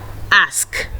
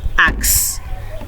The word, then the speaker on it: ask: before we move on this word ASX is pronounced asked not acts please I'm pleading with